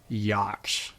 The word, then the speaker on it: Jaksch: Jaksch.